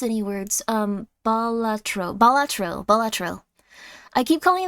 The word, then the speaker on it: Balatro: DLC uh why do you keep calling it botaro because I don't know how to pronounce any words um balatro balatro balatro I keep calling them Astro Boy